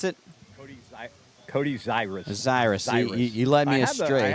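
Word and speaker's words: Zirwas: So Zuris, Bryson Zuris in for Sandor at first. Z-I-R-W-A-S, pronounced Zuris.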